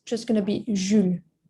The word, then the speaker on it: Jules: You pronounced the S at the end. We do not pronounce it. It's just going to be Jules, right? Jules.